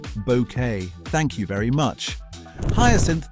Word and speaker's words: Bucket: Keeping Up Appearances premiered in 1990, and Patricia Routledge played Hyacinth Bucket, pronounced bouquet.